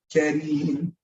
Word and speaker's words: Kareem: And in Arabic, you don't pronounce the R harshly if it has a kasra, if it has that E sound on it. It's pronounced softly. Kareem, Kareem, Kareem, not Kareem, Kareem, Kareem.